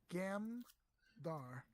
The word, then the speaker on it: Gandar: Is it Jandar Awesome. or with a G? How do you spell it? Yeah, GAMDAR. Gamdar.